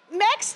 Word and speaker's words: MEKS: partners I know I know all right so max gymnastics that's how you pronounce it if you had any questions next